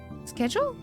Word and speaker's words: schedule: I I prefer the British pronunciation of schedule. SK schedule.